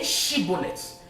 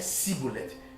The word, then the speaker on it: shibboleth: call the language test say shibolet if you could not pronounce it shibolet and you say shet you were seized and you were killed now God has a